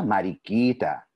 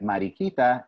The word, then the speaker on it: mariquita: Mientras caminaba, vi una mariquita. Ladybug se dice mariquita en español.